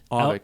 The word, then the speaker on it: Auvik: Am I pronouncing this right? Auvik? Auvik.